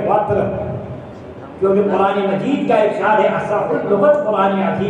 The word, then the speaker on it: وتر: یہاں تک حکم ہے کہ اگر کوئی وتر کی نماز جس کا صحیح تلفظ ہے وتر, کیونکہ قرآن مجید کا ارشاد ہے اصح اللغت قرآن عظیم ہے, والفجر ولیال عشر والشفع والوتر.